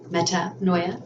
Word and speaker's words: Metanoia: Metanoia, that's how you say it.